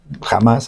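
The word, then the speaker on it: Hamás: ejemplo, jamás originalmente eh se escribe con h, no jamás, así se dice.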